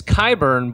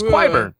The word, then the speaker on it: Qyburn: even if it's wrong so yeah it's qyburn but with a cue at the beginning so in my head he was quiver but now he's qyburn it's like okay one